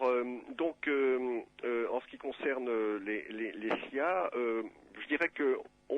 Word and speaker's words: Xia: Prononcé à la française, ça fait Xia.